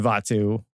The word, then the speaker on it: Vatu: Yes, I believe it's the correct pronunciation. Vatu.